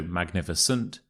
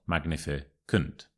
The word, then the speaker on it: magnificent: things to remember here firstly it's a soft sea when it is a soft C we say s not C so magnificent not magnificant you will know most